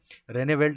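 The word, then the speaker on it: Rijneveld: ठीक है, नाम का स्पेलिंग थोड़ा सा अलग है, अजीब तो नहीं कहना चाहिए, अलग है। रेनेवेल्ट नाम से याद रखिए, मैरी जैसा ही नाम है, मैरिकी ल्यूकस रेनेवेल्ट।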